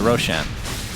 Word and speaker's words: Roshan: Abaddon is now hitting the Roshan. Do you say Roshan or Roshan? Is that Roxanne? That's right. Roshan is actually a word in Farsi, which is why I pronounce it Roshan.